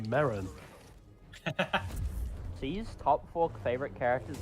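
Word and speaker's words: Merrin: ] it's pronounced Marin See's top four favorite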